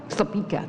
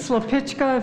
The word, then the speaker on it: Slepeka: Slepeka, that's what it is. Thank you. Slepichka, if you're Bohemian.